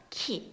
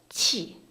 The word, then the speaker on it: qi: 영어 잘하시는 분들은 Q 보면 다 Q라고 발음을 하시더라고요. 키, 그쵸? 근데 QI는 지금 뭐라고 돼 있어요? 한국어 발음으로? 치. 요거는 영어랑 자꾸 혼동하시면 안 돼요.